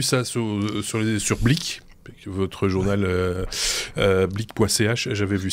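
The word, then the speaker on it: Blick: Il y a pas de R mais ça se prononce blic.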